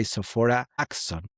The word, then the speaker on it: Sophora Acheson: Today we are joined by Sopha Axon. Yes, you got it. I pronounce it correctly right. Yes. Sora Axon.